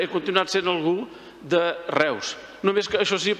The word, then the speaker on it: Reus: continuat sent algú de Reus. Només que això sí, pronunciat a l'Alemanya, perquè eu en alemany es pronuncia oi.